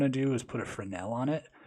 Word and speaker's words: Fresnel: node that's weirdly spelt it's spelt like fresnel but the s is silent so it's just fresnel and then with the